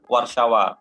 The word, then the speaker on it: Warszawa: Padahal tulisannya Warsawa. Ya, bahasa Inggrisnya Warsaw, kalau bahasa Polandnya Warszawa.